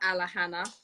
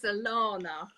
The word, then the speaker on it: Alahana: So it's not Alahana, it's Alana.